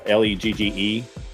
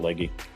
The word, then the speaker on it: Leg: Katherine uh leg uh L E G some people pronounce it leggy but Katherine leg.